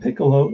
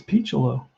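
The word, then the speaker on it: Picciolo: Guys have a lot of trouble pronouncing this name, Piccolo. But I remember it was Phil Rizzuto who taught me how to pronounce it. He made a big deal about it. He said, It's not Piccolo, it's Piccolo, because that's how you pronounce it.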